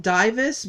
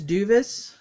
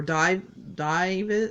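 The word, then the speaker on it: Duyvis: I pronounced it Divis, but it's a U because I'm stupid. But so I think it's Duvis or Divis. Maybe it is Divis because D-U-Y.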